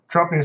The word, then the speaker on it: Draupnir: How do you pronounce it? Draupnir spear. Draupnir spear.